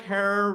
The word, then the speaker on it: Herer: he is our hero jack herrer rhymes with terror is at a rally